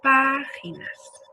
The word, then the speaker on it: páginas: Tenemos otra vez el ejemplo de América y por último páginas. Palabra esdrújula que se acentúa siempre.